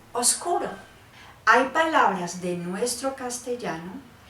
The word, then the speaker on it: oscuro: Ahora solamente decimos oscuro, porque con el paso del tiempo esa B simplemente en el habla fue desapareciendo, se dejó de pronunciar y ya no es obscuro, sino oscuro.